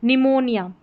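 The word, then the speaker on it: pneumonia: इसमें न करके इसको पढ़ेंगे। पी साइलेंट रहेगा इसमें। जैसे निमोनिया। ठीक है?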